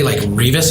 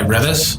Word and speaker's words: Reavis: But I think they say Reavis High School, and we go by Reavis. So it's a little pronunciation.